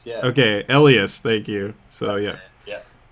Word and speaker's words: Elias: is that right yeah it's it's pronounced it's pronounced elas yeah okay elas thank you so yeah yeah all right so